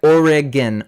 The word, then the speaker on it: Oregon: Oregon Oregon Oregon okay kind of like it's like Oregon Oregon that's how you say it anyway so I was